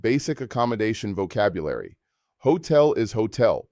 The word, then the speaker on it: hotel: Hotel is hotel, pronounced hotel. While the spelling is identical to English, notice that the H is silent and the stress falls on the final syllable.